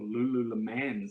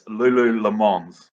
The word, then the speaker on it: Lululemons: And another one, Lululemon, or Lululemans, is it? Pronounce it wrong. There you go, but it's drawn Lululemons, or Derek Jones. Derek and Adele Jones will hunt you down. It's Lululemons. I thought I was right.